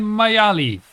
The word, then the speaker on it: Maiali: the left side i'm my alley it's that's an i that's an i it's not pronounced e there there's no there is no e in there um wait what happened